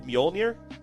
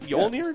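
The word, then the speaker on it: Mjölnir: inch Rubik replica of mjolnir yes Thor's hammer technically I'm not pronouncing that right yolnir I thought you did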